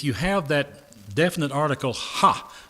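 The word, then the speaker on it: ὁ: And in the Greek, if you have that definite article ha, H, it's just the letter O with a breathing sound. It's pronounced ha, H-A.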